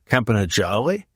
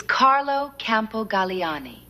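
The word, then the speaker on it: Carlo Campogalliani: It's Carlo Campogaliani. I have no idea how your mushmouth said it, but it was wrong.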